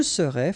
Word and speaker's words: serais: Je serais, final S not pronounced.